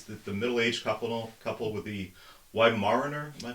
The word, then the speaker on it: Weimaraner: swans, which is the middle-aged couple with the Weimaraner, am I pronouncing that? Weimaraner.